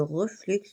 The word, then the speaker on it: reflux: Ressentez le flux et le reflux de la vie. Normalement, le X, on ne le prononce pas, mais moi j'aime bien le prononcer.